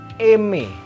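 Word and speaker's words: aimer: Ini dibacanya eme. Nulisnya AI M E R tapi dibacanya eme. AI-nya berbunyi E, ER-nya juga E.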